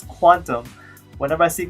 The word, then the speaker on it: Qtum: to today's topic today I want talk about Q them what is Q them or that's gonna be hard for me I probably will be pronounce a cute emoto's technically pronounce quantum whenever I see Q them though I probably